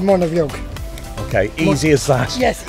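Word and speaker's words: Muine Bheag: name right in irish so how do you pronounce it it's called monavie okay easy as that yes easy as that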